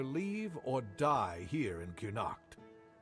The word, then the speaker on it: Cuanacht: And you'd have to either leave or die here in Cuanacht. Now he's pronouncing it with a full U.